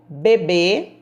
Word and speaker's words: bebê: bebê e bebe o bebê já bebe suco de frutas tão primeiro a palavra acentuada o bebê com são fechado bebe um som aberto e a sílaba mais